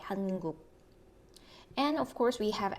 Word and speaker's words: 한국: Then you pronounce the final position 기역 as unreleased K, 한국.